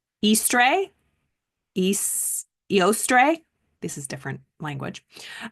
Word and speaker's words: Eastre: The linguistic roots, Old English, again, when there is a hard line over an E, that means you pronounce it like the actual letter, right? Eastre. And so apparently in German, Ostern is still how you say Easter.